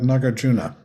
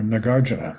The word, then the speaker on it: Nagarjuna: thought and he starts out by talking about nagarjuna or nagarjuna however we like to pronounce it The Gardener lived around in the